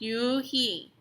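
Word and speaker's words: Unhei: turned to joey she nodded slowly yes it's pronounced you he and it means grace mr kim added yoon he joey said slowly time to make it perfect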